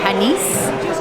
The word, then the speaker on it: panisse: It's got S's at the end. Panisse.